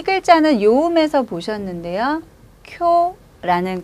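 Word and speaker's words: 今日: 쿄라는 글자고요. 다음 글자는 우자죠. 한 번에 합쳐서 쿄으라고 읽지 않고 쿄를 뒤로 길게 끌고 갑니다.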